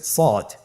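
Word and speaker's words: ص: শুরুতে আমরা শুরু করছি সদ। সদ হরফটি পুর হরফ। মোটা হরফ উচ্চারণ ক্ষেত্রে মোটা করে পড়তে হবে এবং উচ্চারণ করার সময় তিন আলিফ টেনে পড়তে হবে।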